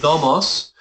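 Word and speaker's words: νομός: You have nomos with the accent on the penult, right? And you have nomos with the accent on the ultima. The difference in meaning is law and feed.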